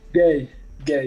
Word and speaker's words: Gueye: I'm joined by Gueye. I hope I said that. Did I pronounce that right? Gay, gay. Gay? Yes. Okay, like Marvin Gaye?